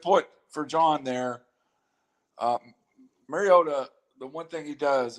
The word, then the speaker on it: Mariota: they would struggle to come up with marcus marriott i can't say his name mariota at this point right yeah you know mariota